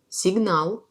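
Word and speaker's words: сигнал: Par exemple, dans le mot signal, l'accent tombe sur A. C'est comme il y a de A à côté. Signal. Voyez, je prononce a plus long.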